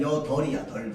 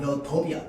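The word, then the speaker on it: 여덟: 자, 리을로 발음하면 뭐냐면 여덜이야. 덜. 비읍으로 발음하면 뭐야? 여덥이야. 덥. 그럼 여덜이야, 여덥이야. 덜. 뭐가 탈락해요? 비읍이 탈락하죠. 자, 얘는요, 뭐가 원칙이냐? 리을이 원칙입니다.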